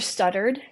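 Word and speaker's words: Stoddard: like it was spelled it was spelled s t d d a r d so so it's not like spelled like that but like it's it sounds like it stuttered oh my gosh I'm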